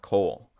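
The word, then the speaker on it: Cohle: Like Rust Ru S and his last name is pronounced Cole.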